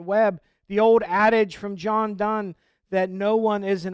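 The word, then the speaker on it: John Donne: John Dunn a lot I was corrected once on my first sermon that I preached here by Janet when I pronounced John Dawn so since that point I've made sure to pronounce that corrected correctly but this new isolationist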